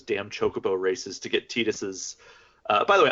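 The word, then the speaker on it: Tidus: And I still do those damn chocobo races to get Titus's. By the way, I'm going to call him Titus because that's, in my opinion, the correct pronunciation.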